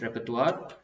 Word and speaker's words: repertoire: look at these again so we did a repertoire please pay attention to the definitely are to the pronunciation its repertoire then which means basically a collection of skills